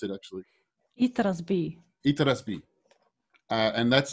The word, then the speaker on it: Itras By: excited, called Itras By, or how do you pronounce it actually? Itras By.